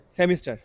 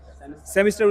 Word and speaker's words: semester: last one কি ছিল সেমিস্টার উচ্চারণ হবে সিমেস্টার সো তোমরা তোমার ফ্রেন্ডদেরকে বলতে